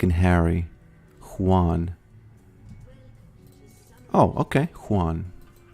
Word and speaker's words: Juan: Juan. I would have never guessed that it's pronounced with the H in front, like in Harry, because, you know, very often.